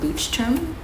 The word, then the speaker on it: Leuchtturm: Okay, so this is called, I think it's pronounced Leuchtturm.